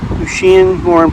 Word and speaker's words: Lucien Morin: All right, we are at Lucian Morin Lucian Morin Park. That's how you pronounce it.